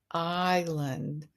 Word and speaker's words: island: sound in the word island well It's the L again. That S is um is silent.